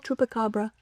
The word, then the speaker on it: chupacabra: Is that how you pronounce that? Yeah. Chup l chupacabra.